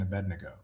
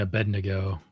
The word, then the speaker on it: Abednego: Bonus points for pronouncing Abednego correctly, Curts. Well, I'm using the American evangelical pronunciation and I'm sure it's a negot. Yeah, I say Abednego.